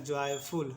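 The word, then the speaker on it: joyful: एफ का उच्चारण होगा फ, यू का उच्चारण होगा ऊ, एल का उच्चारण होगा ल, ठीक है। इसको पढ़ेंगे जॉयफुल, इसको पढ़ेंगे जॉयफुल, जॉयफुल।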